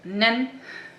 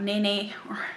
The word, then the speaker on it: Nen: I learned that from their lives, that you pronounce it as Nen, and not Nene, or something that we would call it here in the Netherlands.